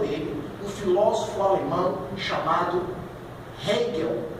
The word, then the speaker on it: Hegel: não só por ele, um filósofo alemão chamado Hegel, é a pronúncia.